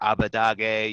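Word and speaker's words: Abbedagge: that oh yeah it's it's a very specific pronunciation but you hear abu dhabi you hear like even the eu casters say abu dhabi like honestly uh you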